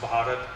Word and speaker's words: Bharat: the white people American people they cannot pronounce Bharat so they call me part so so so that